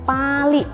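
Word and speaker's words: Pāli: Ya, jadi bahasa Pali dikatakan sebagai bahasa suci karena berawal mula dari asal kata bahasa Pali itu sendiri, di mana dalam tanda bacanya Pali, jadi A-nya itu panjang, ada garis di atasnya, itu artinya adalah memang teks suci.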